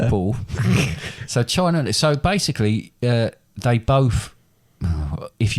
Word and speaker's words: Nepal: So basically, I'm in order almost to certain you mispronounced Nepal there. Nepal.